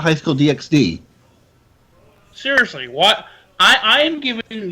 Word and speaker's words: DxD: supposed to be pronounced High School DD? Because the X is usually silent.